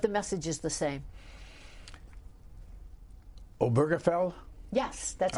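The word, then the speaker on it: Obergefell: Dead Body but the message is the same oberfell yes that's how you pronounce it yeah the gay marriage the gay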